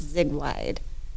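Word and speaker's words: Ziegweid: so first of all you said it wrong like everybody does dang it that's the way it's spelled z-i-e-g-w-e-i-d so everybody thinks that that's what it is but it's zig-wide it is German for zigbed oh yeah essentially somewhere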